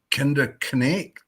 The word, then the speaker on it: Kinderknecht: says all those K's are pronounced. All the K's are pronounced. Kinderkekt, kinderknecht.